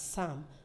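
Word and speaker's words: psalm: in the word um p-s-a-l-m that's Sam the L is also not pronounced so you need to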